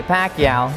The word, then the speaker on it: Pacquiao: I'm certain the future's going to be tremendous for the Pac-Man, Manny Pacquiao.